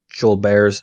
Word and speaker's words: Gilbert's: dehydrated all the time Joel Bears disease it's spelled Gilbert's but it's pronounced Joel Bears huh yeah real sad